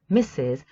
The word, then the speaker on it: Mrs: Check the pronunciation, please. S and then Z, Mrs.